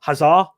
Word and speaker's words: Hazard: dutch name they've got eden hazard but the actual pronunciation is huzzah very fran frenchy or culture you know